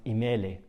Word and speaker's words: imala: This is called imala, which is fittingly pronounced imele in Lebanese Arabic.